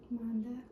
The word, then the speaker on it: Manda: Manda. like Mandy. Yeah, man. Yeah. Same. It's a Mandy, but we spell that way Manda.